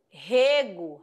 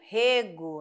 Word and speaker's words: rego: ser diferente vamos lá vamos perceber assim ó Rego Rego né é um substantivo ó e Rego ó eu régua as plantas então aqui ó é verbo tá bom Rego e régua aí ó